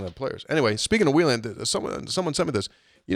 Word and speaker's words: Wheeling: There's a major commercial that's on the radio, and it goes on, and it says, to Wheelan.